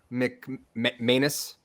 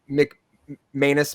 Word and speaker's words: McManus: I looked up Bishop McManus uh I think it's pronounced like anus right um it's in